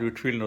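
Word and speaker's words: Whitefield: William பூத்து, William வில்பர்ஃபோர்ஸ் இவங்களெல்லாம் வந்து இவங்க லிஸ்ட்டில் வந்து ஜார்ஜ் விட்ஃபீல்ட்னு ஒருத்தர் இருந்தார். ஒயிட் ஃபீல்டுங்கிறதுக்கான ஸ்பெல்லிங் தான் அதில் இருக்கும். பட் விட்ஃபீல்டு தான் ப்ரொனவுன்ஸ் பண்ணணும்.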